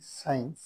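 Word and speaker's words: science: author S সি আই ই এন সি ই সাইন্স বিজ্ঞান এস সি ই এন ই সিন মানে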